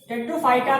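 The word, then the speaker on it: Pteridophyta: टेट्रोफाइटा में P silent होता है, इसीलिए इसको हम क्या करते हैं, टी स्टेट से स्टार्ट करते हैं।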